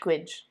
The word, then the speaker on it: Gaeilge: Gaeilge. Yeah, more like a itch sound at the end.